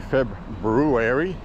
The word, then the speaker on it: February: Lowest gas prices in Maine are always in February or if you want to say it properly, Feb brewery.